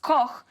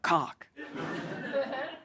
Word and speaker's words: Koch: It's meant to be pronounced Koch, but if you're living in an English-speaking country, 8 out of 10 times it is Olga Koch.